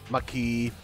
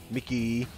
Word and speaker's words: Maki: show or you know some people mispronounce her name Maki Mickey Mickey do you not know